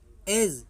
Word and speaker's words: edge: तो जी से पहले आया हुआ डी जो है साइलेंट रहता है। जैसे आपका दिया BUDGET, बजट है ना, बजट, बजट मीन्स बजट। दूसरा देखते हैं EDGE, एज, एज मीन्स सिरा।